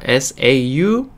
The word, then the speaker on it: sauce: S-A-U-C-E라고 해서 sauce 라고 발음이 나요.